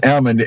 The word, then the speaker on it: almond: So that's almond, A-L-M-O-N-D. They don't pronounce the L because they said that when the nuts fall off the tree, it knocks the L out of them.